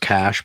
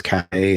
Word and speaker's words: cache: to lodestone's cachet class it's really it's pronounced cash but if i just say cash most people try to correct me and say it's k and it's not but